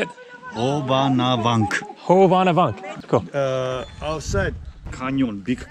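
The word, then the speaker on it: Hovhannavank: Hovanavank.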